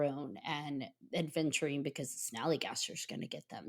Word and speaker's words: Snallygaster: I always say it wrong. The Snallygaster, and I want to call it the Sallygaster. It's a Snallygaster.